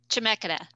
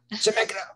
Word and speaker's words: Chemeketa: I'm hoping I'm pronouncing that right. Chemikita? Chemikita. Chemikita.